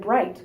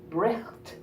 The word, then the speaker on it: bright: So if we spoke these words with all the syllables in them, we'd be saying bricht or trouble, both of which sound ridiculous to our ears.